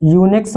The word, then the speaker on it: Unix: इसका उदाहरण देंगे यूनिक्स, तो यूनिक्स बोलते हैं इसको, है ना, स्पेलिंग होती है UNIX, यूनिक्स, ठीक है।